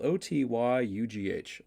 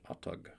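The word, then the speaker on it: Otyugh: Oh, it's spelled O-T-Y-U-G-H. Otyug.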